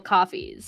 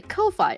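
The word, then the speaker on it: Ko-fi: remembering it but like it's supposed to be pronounced coffee because like the whole thing is like you're buying people coffees. So I was like coffee and then I hear other people say Kofi and I'm like am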